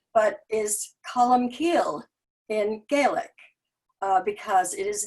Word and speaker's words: Columcille: into his life um columsile which is how most of us pronounce it here but is column keel in gaelic because it